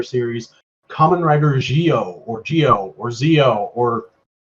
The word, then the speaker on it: Zi-O: yeah jewel but like people who haven't really looked into the show are pronouncing it zo and everybody who has looked into the show or pronouncing a Geo but in the show they say geo so I don't know